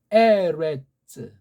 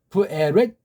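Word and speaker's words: בָאָרֶץ: 이게 츠도 아니고 쓰도 아니고 쯔도 아니에요. 가벼운 그 세 개 소리가 나야 돼요. 한 번에 세 개 동시에 내지 않고 두 개. 츠랑 스, 츠랑 그 중간 발음들을 서로 섞어서 내면 됩니다. 부에레츠, 부에레츠. 완전한 의자는 없으니까 가볍게 내겠죠. 부에레츠. 우리는 그냥 으라고는 돼요. 우리식으로 부에레츠. 이게 받침물은 안 들어가잖아.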